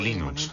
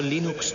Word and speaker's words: Linux: Sin Internet, el desarrollo de Linux habría sido como querer jugar al ajedrez por correo.